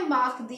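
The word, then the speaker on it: mardi: लिखेंगे एम ए आर डी आई इसको बोलेंगे माक दी क्या बोलेंगे माक दी लेी माक दी ट्यूजडे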